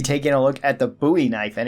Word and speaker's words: Bowie knife: game and people wondering why I call it a buoy knife and not a Bowie knife and usually people cite the reference of David Bowie which kind of makes sense because it is spelled the same way but this knife is named after Jim buoy who fought at the Alamo that would be the correct way to say it however if you want